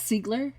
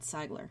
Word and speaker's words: Ziegler: that Ziegler and I'm it's Sigler it looks like it should be said Seigler well but it isn't he says it's Sigler so that's how we pronounce never see Glenn Williamson